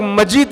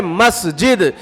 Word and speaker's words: مسجد: کر رہا ہے کہ مسجد مت بولو، بلکہ اس کو تو جو ہے مسجد کہا کرو۔ کسی بھی مسجد کا نام اگر لینا ہے اس کا پروناؤنسیشن صحیح ادا کرو، اس کا تلفظ صحیح طریقے سے ادا کرو۔ بہت سے لوگ مسجد بولتے ہیں، مسجد بولتے ہیں، تو یہ لفظ جو ہے اپنی زبان سے مت نکالو، صحیح لفظ ہے مسجد، جس کے بارے میں